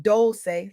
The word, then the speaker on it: Dolce: Welcome to Soft Girl Era, hosted by Doli, pronounced dolce, like sweet softness whispered in French.